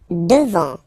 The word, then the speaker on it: devant: Devant, final T not pronounced.